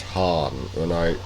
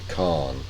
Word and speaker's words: Khan: In that case, when it refers to Proto-Mongols and Mongols, I pronounce it Han. When it's not, I pronounce it Khan.